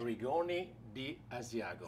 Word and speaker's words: Rigoni di Asiago: And by a special guest, Alberto Carli from Rigoni de Asiago, which is some great products, I understand, that are being sold at Salumeria 104. Absolutely. How do you do on the pronunciation there? Good? Rigoni di Asiago.